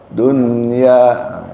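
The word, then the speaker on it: الدُّنْيَا: Dunia itu dalnya ada tasjid. Jadi hayatad dunya tasid ya.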